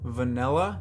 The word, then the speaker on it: vanilla: Yeah, I say vanilla, like it's an E instead of an I. I know. That's just how I pronounce it. Vanilla. Vanilla. Like Nelly.